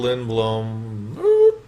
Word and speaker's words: Lindblom: And we call ourselves Phil Lindblom. That's how you pronounce that.